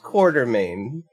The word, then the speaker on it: Quatermain: and then you take this, Alan fucking Quatermain? I don't know which way they spell it. It's pronounced Quartermain, but it's not spelled with the R.